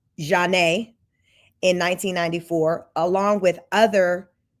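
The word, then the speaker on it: Zhané: on R&B Duo Zan's breakout album pronounced um pronounced Jan in 1994 along with other 90s acts later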